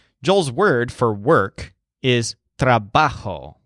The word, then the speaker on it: trabajo: word for work is trabajo with the stress on ba trabajo so just imagine a